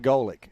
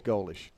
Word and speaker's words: Golish: Coming up, well, really, Adler, he changed everything when he told me it's just Polish with a G. Yeah. And that rhymes with Polish. But just know it's not like Mike Golick. It's Golish.